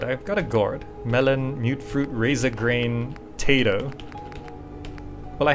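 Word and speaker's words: Mutfruit: It's pronounced mute fruit. I always pronounce it mutt fruit.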